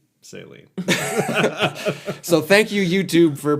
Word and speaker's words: Celine: Celine. This guy pretending like he knew how to pronounce saline.